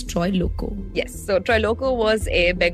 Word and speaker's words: Troilokya: But yes, today we're talking about Troy Loco. That's how it's pronounced. It's spelled very differently. Don't go by what it's spelled. It's Troy Loco.